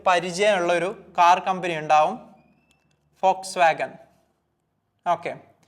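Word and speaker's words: Volkswagen: ഒരു car company ആകും ഫോക്സ്വാഗൻ ഇത് കുറെ ആളുകൾ എപ്പോഴും വോൾക്സ്വാഗൻ എന്ന് വായിക്കുന്നുണ്ട് തെറ്റാണ് ഫോക്സ്വാഗൻ കാരണം വി വരുന്ന സമയത്ത് ജർമനിൽ ഉച്ചരിക്കുന്നത് എഫ് ആയിട്ടാണ് ഉച്ചരിക്കുക സോ ഫോക്സ്വാഗൻ വി വരുന്നത്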